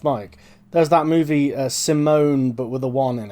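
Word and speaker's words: S1m0ne: sometimes they don't anyway here's one sim sim simone is about an accent yeah so it's it's spelled s one m zero and e um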